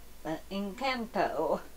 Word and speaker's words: Encanto: channel and i'm gonna be unboxing the disney incanto that's how you say it doll marabelle and